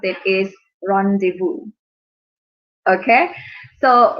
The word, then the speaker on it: rendezvous: As you can see, this word, the way we pronounce it is rendezvous. Okay, so rendezvous. The Z is not pronounced. The S is not pronounced.